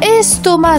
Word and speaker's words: estomac: La lettre muette. Le c à la fin, estomac.